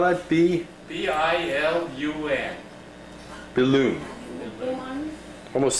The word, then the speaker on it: Bilun: last name, or last name, not How do you spell that? B-I-L-U-N. Billoon.